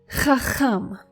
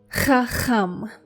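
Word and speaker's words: חכם: Chacham. I know it's that ch sound again, and twice in this word.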